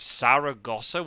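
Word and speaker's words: Zaragoza: on the board like oh it's Sara Gosa with an S it's it's it's so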